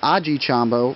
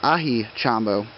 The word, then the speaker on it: Aji Chombo: I was calling them Aji Chombo, but I guess the name is Ahi Chombo.